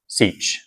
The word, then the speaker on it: sech: By the way, the pronunciation of these is not entirely standardized, but I like cinch, cosh, tanch, seach, and coseach, and I guess the only weird one is cough.